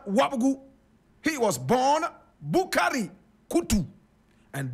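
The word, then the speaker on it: Koutou: he wasn't born wabu he was born bukari koutu and bukari is spelled b o u k a r y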